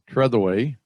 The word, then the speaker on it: Trethewey: moderator which is tretherway uh i'm sorry nice i said your last name wrong you had it right the first time i know yes i don't know